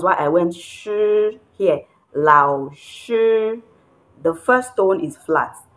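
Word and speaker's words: 老师: Here I said this is lao shi. Lao shi means teacher. I said lao shi because this is the falling and rising tone. It falls and rises.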